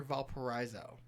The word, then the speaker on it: Valparaiso: South Central is like Union Mills, like that part of 30, Wanata, after Valparaiso. Valparaiso. Yeah. Why you say it like that? Because there's an I in Valparaiso. Valparaiso.